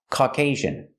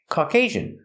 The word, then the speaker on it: Caucasian: we pronounce this word this word is pronounced Caucasian Caucasian put the stress on the second syllable and the second syllable has a long a sound Caucasian Caucasian what does